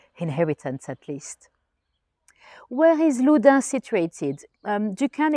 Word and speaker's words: Loudun: 12 or 13 inheritance at least where is Luda situated you can it's spelled with a u Luda like and it's